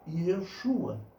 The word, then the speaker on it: Yeshua: Por isso, muitos pronunciam o nome, ok? Yeshua, porque essa seria a pronúncia mais próxima do hebraico.